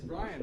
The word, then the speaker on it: Brion: He said it's Brian, right? It's Yeah. Brian. He said Brie. How the fuck did you say Brian? I'm Nah, sorry, bro. yeah. That fucked me up, bro. But It's spelled Brion. Oh, okay. But I would have said Brian.